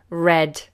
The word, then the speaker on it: read: Red. Red and red. Now, red, this one, is the past tense of read. Interesting that, isn't it? They're the same spellings, but different pronunciations.